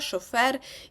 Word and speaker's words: шофер: зберігають оригінальний наголос наприклад слова які до нас прийшли з французької мови зазвичай матимуть наголос на останньому складі такі як бюлетень діалог жалюзі каталог партер травестія шофер і подібні ну в нашому